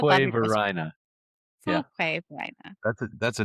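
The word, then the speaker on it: Fuquay-Varina: with pronunciations. Like there's little city, it's like I still don't say it right. Fuquay, Verina, or it was like Fuquay.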